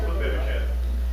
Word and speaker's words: Mephibosheth: Mephibosheth.